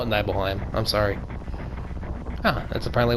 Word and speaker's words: Nibelheim: Oh, Nibelheim. Or Nibelheim, depending on how you want to pronounce that. I call it Nibelheim.